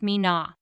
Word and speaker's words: Mina: I as you've heard Mina is relatively simple to understand because of its straightforward pronunciation with twoo easy to articulate syllables mean and na did you notice there's